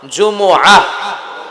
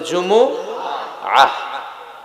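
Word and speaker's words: جمعة: সাথে সাথে বলেন সূরাতুল জুমা জুমুহু সবাই বলেন সূরাতুল জুমুহু অনেকে বলে ফেলে জুমা জুমা আসলে আরবিতে শুদ্ধ উচ্চারণটা হচ্ছে জুমু আহ আহ সূরাতুল জুমু আহ আহ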